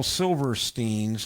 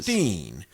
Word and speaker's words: Silverstein: and i was right it was steen not silverstein and i have it from no greater authority uh than dr demento and if he pronounces it that way then that's the way it is um jenny says hello